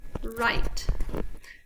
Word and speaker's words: write: So the W is silent, and so I'm going to give you 3 seconds. 3, 2, 1, write.